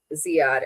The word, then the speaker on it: Ziad: Shanny says, "If it's Ziad, then you are saying it right." I have a friend whose name is it is Ziad, and that's how you say it.